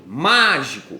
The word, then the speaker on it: mágico: E quando você usar a regra do grito, mágico, mágico, você percebe que o de mágico é mais forte. Então, oxítona, paroxítona, proparoxítona. Então, em mágico, a terceira sílaba mais forte é o má, portanto, uma proparoxítona.